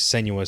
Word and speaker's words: Senua: Just because the title is Senua's Saga. Hellblade 2. I can tell. I know. I could tell you forgot because remember we said it like, oh, it's Senua. That's how you say it.